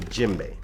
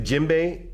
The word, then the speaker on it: djembe: to you a lot about is called the jimbe now the jimbe is spelled DJ m b e this drum is